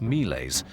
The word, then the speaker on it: miles: to him using the Latin word for soldier miles pronounced mles rather than calling him king.